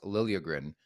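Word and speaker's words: Liljegren: season by the way it sounds like that's the way he wants it pronounced Lilia grin two goals plus one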